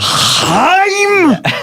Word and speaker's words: Haim: You have a lot of cool guest stars in the video, like Haim. Do they like to be called that? Yeah. Haim. That's how they pronounce it.